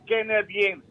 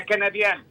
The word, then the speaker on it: canadiano: várias vezes o Ricky pronuncia a palavra canadiense. Canadiense eu acho que não está bem. Eu referi hoje canadense. Não está bem. É canadiano. Canadiano.